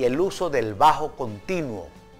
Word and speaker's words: Bach: destacan johann sebastian bach que se pronuncia bajo y novak porque era alemán si fuera castellano sería bach como en alemán se